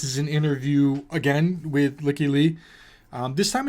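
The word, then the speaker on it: Lykke Li: I've seen it pronounced all different sorts of ways. I say Licky Lee. Licky Lee? Licky Lee. Lucky Lee?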